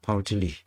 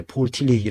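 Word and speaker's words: Paul Tillich: 신학교 교수도 하시고 그랬어요 파울 틸리 이렇게 그 영어 발음이라 이제 폴틸리히 아고 또 발음하는데 실제로이 어 다 독기를 쓰는 사람들입니다 그니까 루돌프 볼트만 칼바르트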